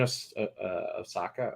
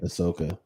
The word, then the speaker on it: Ahsoka: But they're still doing Osaka, or I can never say her name. Ahsoka.